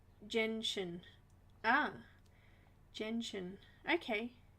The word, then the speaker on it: gentian: Gentian.